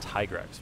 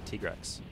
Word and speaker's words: Tigrex: for me I guess my whole life I pronounced it tigrex my side but they actually told me as tika while we were recording this they said yeah it's actually tigress because I guess this